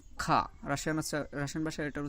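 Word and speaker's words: Х: আসলে ইংরেজি রাশিয়ান ভাষায় তো এইচ বলে কোনো অক্ষর নাই যে এইচ দিয়ে মানে হয়ের কাজ করবে, কিন্তু এই এক্সটা, দ্যাট মিনস রাশিয়ান ভাষায় এটাকে খা বলে, এটাই অনেক সময় উচ্চারণের ক্ষেত্রে হয়ের মতন উচ্চারণ হবে। তাহলে আমরা এটা যখন শিখতেছি তখন এটাকে খা বলে শিখবো, খা।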